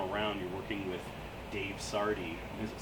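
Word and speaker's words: Sardy: When you guys are in the studio this time around, you're working with Dave Sardi. Is it Sardi? I'm pronouncing Yes.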